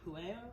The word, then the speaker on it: Pueo: Okay, Pueo, that's how you say it, Pueo.